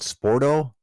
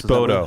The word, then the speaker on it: Spoto: Sporto press? Spoto.